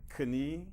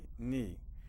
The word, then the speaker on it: knee: um I banged my K well that's not correct it's I banged my knee and we don't pronounce the k you don't have any